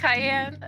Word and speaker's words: Cayenne: Cayenne, pronounced like the pepper.